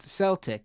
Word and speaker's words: Celtic: couple weeks ago on Mr regarding Celtic it's pronounced Celtic it's a soft sea I said that actually